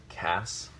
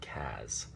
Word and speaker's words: Cas: I think it's critical that the name still be pronounced Cass and not Kaz.